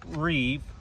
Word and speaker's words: Reiff: people will address with Reef knives is or it might be pronounced rif knives depends on who you ask um is that some